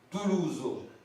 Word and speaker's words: Tolosa: Tolosa, alors Tolosa, T-O-L-O-S-E-A, ou Toulouso en occitan, puisque le O se prononce OU, c'est le son OU, la lettre A à la fin de mot, c'est le son O, Toulouse.